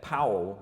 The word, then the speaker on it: Paul: Czech you'd say that Paul, that P-A-U-L. And so it looks just like Paul, and a lot of people say it as Paul, but it's actually pronounced in the Czech way, Paul, and that's the